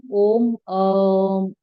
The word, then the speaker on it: ओम: ओम 3 शब्दों से मिलके बना है, अ, उ और म। ठीक है। अ का वाइब्रेशंस आपकी नेवल पॉइंट पे आएगा, नाभि पे आएगा। ठीक है। ऊ का उच्चारण आएगा आपके चेस्ट पे, यहाँ पे। म का उच्चारण आएगा आपके माथे पे।